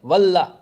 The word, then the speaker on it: Wallah: जरा उसकी स्पेलिंग देखिएगा, WALA नहीं है, वाला नहीं है, WALL, वल्लाह, AH, वल्लाह है, ठीक है, वल्लाह, समझे, वो लिखा है उसने। और आज उसने अपनी औकात भी साबित कर दी वल्लाह लिखने वाली, कि वल्लाह क्यों लिखा है।